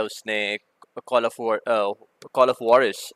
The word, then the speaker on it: Juarez: है उसने call of Boris, basically ये चूँकि मैक्सिकन नेम है, हुआरेस भी कहते हैं, हुआरिस भी है। हुआरिस I think is the closest pronunciation to इट।